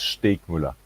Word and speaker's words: Steegmueller: name right yeah and the last name is steak muller like milan perfect yeah that's